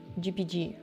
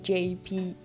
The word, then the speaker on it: JPG: yeah I'm always like gpg I'm calling it gpg although it's not gpg I know it's jpg here's another thing that